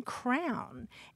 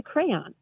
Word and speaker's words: crayon: And then there are people who say cran, sounds like rhymes with the first part of cranberry, mm-hmm. rhymes with man.